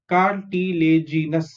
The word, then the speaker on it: cartilaginous: CR is car, TI is T, LA is lay, GI is G, NOUS is nus. Cartilaginous.